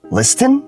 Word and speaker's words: listen: letter T often often we have listen instead of listen it becomes listen did you listen to